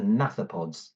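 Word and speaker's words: gnathopods: what's called the hands the naop pods the silent G so they're very important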